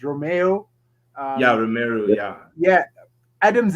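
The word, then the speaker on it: Romeu: like james ward prowse yeah i think it's pronounced romeo yeah romero yeah yeah adams is shining for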